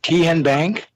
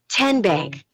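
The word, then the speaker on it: TN Bank: How do you say the name? Tian Bank? No. Tin Bank? So what is it? 10 Bank. 10, as in Tennessee, right here where all our banking decisions are made.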